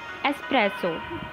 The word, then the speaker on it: espresso: Its correct pronunciation is espresso.